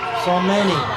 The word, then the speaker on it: Somani: Her last name is pronounced Somani.